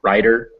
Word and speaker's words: writer: them these words uh it's writer and writer actually pronounced almost the same the t and the d both become this tap writer writer so um so